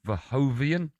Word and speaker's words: Verhoeven: May the 23rd, it's glory in Giza as Usyk faces a Dutch kickboxing champion, Rico Verhoeven.